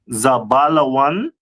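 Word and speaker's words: זבולון: In Hebrew, it pronounced as Zabalawan, which means dwelling, and its stone is a sapphire.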